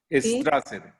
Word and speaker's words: Strasser: Se llama Ivy, se escribe E-V-I latina. Evi Strasser, S-T-R-A-S-S-E-R.